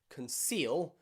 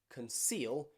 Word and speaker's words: conceal: any word is okay so be careful in words like conceal conceal you have the e and the a but it is still pronounced as a s not a shh okay make sure that